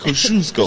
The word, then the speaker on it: Kosciuszko: That's what I called it out after I messed up and said Kazuki. Because nobody can pronounce it. No, nobody. Now you can. Yeah. Kosciuszko.